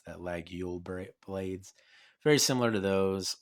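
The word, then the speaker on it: Laguiole: clip point blade that's reminiscent of like the lagule that's how you pronounce that lag yield blades very similar to those or like if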